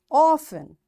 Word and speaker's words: often: Castle, often, whistle, soften, hasten, bustle, and gormy. In all these words, letter T is silent.